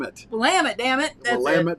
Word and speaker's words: Willamette: lamb it damn it Willamette Valley and I was supposed to rhyme with dammit that's why I say